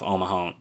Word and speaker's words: Omaha: John's holding off Omaha. I keep mispronouncing it. It's Omaha.